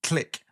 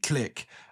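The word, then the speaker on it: Tlic: The story is mostly about the kind of complex relationship between the two species, where the Click, I am pronouncing it right. It's T-L-I-C, Click.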